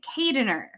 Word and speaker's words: Keijdener: get that one wrong too so kadener wonderful and that that is uh filipino